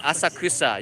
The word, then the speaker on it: Asakusa: to come to us ASSA ah sucks ah you can't say it asakusa you say suck suck cuz the internet goes crazy teach that right way to say it but at night